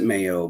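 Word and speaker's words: MAEOE: could ever get and they pronounce it Mayo but it's like Maui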